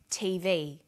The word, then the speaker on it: TV: Notice that each letter in the abbreviation is pronounced separately, but the last letter is pronounced more strongly because it carries the primary stress. So we say USA, ASAP, ABC, and TV.